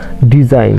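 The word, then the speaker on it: design: যেমন ডিজাইন ডিই এস আই জি এন শেষে জি এন আছে কিন্তু আমাদের উচ্চারণ করতে হবে আইন। অর্থাৎ এস এর জন্য জ ডিজাইন।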